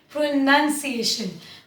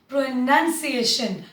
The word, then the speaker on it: pronunciation: जब हम वर्ड को कहते हैं प्रोनाउंस करो, तब हम बोलेंगे प्रोनाउंस, प्रोनाउंस with the ओ। बट जब पूरा वर्ड कहते हैं कि तुम अपने उच्चारण पर काम करो, तो क्या बोलेंगे? Work on your प्रोनाउंसिएशन, नॉट प्रोनाउंसिएशन बट प्रोनाउंसिएशन।